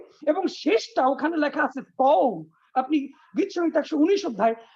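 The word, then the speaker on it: תו: শেষটা ওখানে লেখা আছে তও আপনি গীত সংীত 119 অধ্যায় 169 পদ খুলে দেখবেন লেখা আছে উপরে তও এটা তও হবে না। উচ্চারণটা হলো ত।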